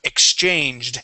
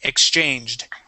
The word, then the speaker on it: exchanged: We have exchanged. Okay, make sure to pronounce that ED ending. Exchanged.